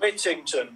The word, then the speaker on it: Whittington: Whittington. Yeah, like Dick Whittington.